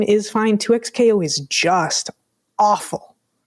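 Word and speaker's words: 2XKO: I was like, well, maybe you're supposed to pronounce it double knockout and they're just being funny. No. Right. 2x KO.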